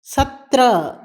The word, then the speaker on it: सत्रह: 17 17, सत्रह सत्रह. இங்கும் ஹாவை அடக்கி உச்சரிக்க வேண்டும்.